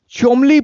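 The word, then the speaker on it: Cholmondeley: मेरा टाइम लग गया इसका प्रोनंसिएशन चमली पोएट्री प्राइस के नाम से निकल के आया है चोम ली ठीक है यहां से बाकी बहुत सारे लेटर्स इसमें साइलेंट कर दिए गए हैं पता नहीं क्या प्रोसेस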